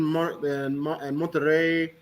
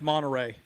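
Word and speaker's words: Monterrey: Uh, yeah, they played in Mterrey few years ago. But yeah, the first Yeah. Wow. You're saying that wrong. It's It's pronounced Monteray.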